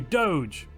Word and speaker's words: Doge: to get the vote let's bring back the Doge or as some people pronounce it I believe dog well it looks like